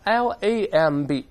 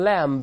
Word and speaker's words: lamb: 成 tomb 而不是 tomb 绵羊 L-A-M-B 咱们不读成 lamb 读成 lamb 对梳子 C-O-M-B 咱